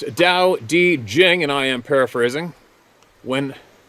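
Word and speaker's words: Tao Te Ching: man of the forest The Tao tea Chang States pronounced Dao di Jing there we go again why don't they spell it the way it says it sounds kidding pronounced Dao D Jing and I am paraphrasing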